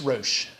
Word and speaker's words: Roche: I always said Roche. It seemed right, but it's Roche. Yes, exactly. It's the same Roche. And so we have a point here where the two Roche lobes meet.